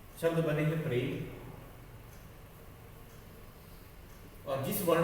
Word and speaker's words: प्रेम: शब्द बनेंगे प्रेम, और जिस वर्ण के नीचे होता है उसके बाद इसका उच्चारण किया जाता है। जैसे प में एक ही मात्रा है तो प्रेम, पे में फिर र लगेगा। प्रेम जिस वर्ण में होता